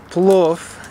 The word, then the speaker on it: plov: so we are starting to make some wolf is how we pronounce it this is my dad